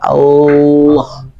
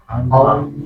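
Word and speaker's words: الله: Allah. Nah, jadi posisinya itu kita pengucapan huruf lam awalnya kan ujung lidah saja ya. La la la gitu ya. Nah, ketika pengucapan apa? Lafzul jalalah itu lidahnya itu melebar.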